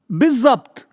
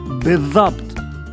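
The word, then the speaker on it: بالضبط: Today's word is Bizzabt. Biz-Zabt. It can also be pronounced as Bithabt.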